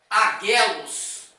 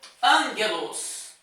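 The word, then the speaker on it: ἄγγελος: Então eu não vou dizer aguelos na pronúncia, eu vou dizer ângelos. Ângelos vai tomar um gama, vai tomar som de N.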